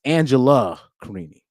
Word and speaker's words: Angela Carini: I said Angelina Carini. It's Angela Carini.